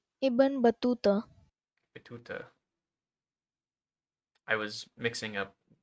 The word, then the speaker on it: Ibn Battuta: Ibn Batatu. Pronunciation. Ibn Battuta.